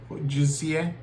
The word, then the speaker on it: Josie: Then we're gonna use this Josie Moran, not Jose, Josie.